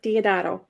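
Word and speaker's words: Deodato: is a a 2000 uh cover from Mike diodato okay okay is that how you pronounce his name yes yes yes that is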